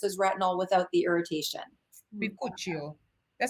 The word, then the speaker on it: bakuchiol: Bakuchiol. That sounds Italiano. It took a long time to figure out how to pronounce it properly.